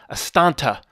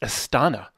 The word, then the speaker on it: Astana: he says to me Matt why are you saying astanta it's Astana to spell it incorrectly and pronounce it wrong